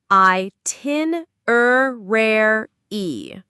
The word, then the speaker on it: itinerary: It has five syllables. Let's break it down. I tin e. The main stress is on the second syllable. tin. Let's say it again slowly. I tin rare e.